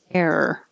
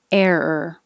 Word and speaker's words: error: didn't compare those before so error you curl your tongue back for the first air and then hold it there er error error that's a weird